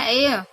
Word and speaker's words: heir: हम बात करें तो एच है वो यहाँ पे साइलेंट रहता है और ए इसका आर भी साइलेंट होगा, एच भी साइलेंट होगा और इसका करेक्ट प्रोनाउंसिएशन होगा एयर मीन्स उत्तराधिकारी।